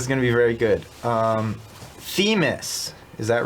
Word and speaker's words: Themis: And just make a note of the pronunciation for the character. It's this character. It's Themis.